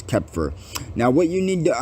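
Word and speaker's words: Xeper: happens is zephyr or kepfer uh it's actually pronounced kepfer but i'm saying zephyr but it's kepher now what you need to understand this is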